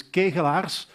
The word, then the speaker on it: Kegelaers: everyone and the exact pronunciation of my name is gay collapse I forgive you it's a it's impossible to pronounce for everyone that's not Belgian cool I started with